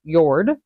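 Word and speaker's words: Jörð: little dots above the O uh anyway is yord then we come over to Goddess of Love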